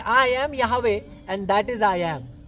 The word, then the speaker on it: Yahweh: That's how Yod He Vah He is pronounced in Hebrew. Okay? He said, I am Yahweh, and that is I am.